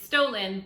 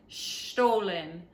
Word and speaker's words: Stollen: So it's stolen, but the gentleman said it's not stolen, it's Stollen.